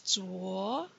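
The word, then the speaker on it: 昨: The next character you have to trace is Zuo for yesterday.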